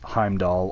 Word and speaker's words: Heimdall: And also there are 2 ways that you can pronounce Heimdall or Heimdallr. Heimdallr is how he pronounces it in the game through the god, but other people just call him Heimdall.